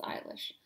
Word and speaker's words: Eilish: Eilish? No, it's Eilish.